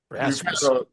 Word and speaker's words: Rasmussen: Rasmussen.